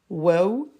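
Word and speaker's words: واو: C'est la lettre waouh, comme le W dans le mot web.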